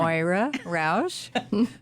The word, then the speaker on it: Moira Roush: Moira Roush.